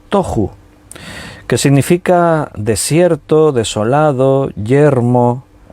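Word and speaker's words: תֹּהוּ: La palabra desordenada en hebreo es tohu, T-O con acento en la O, J-U, tohu, que significa desierto, desolado, yermo, desordenado.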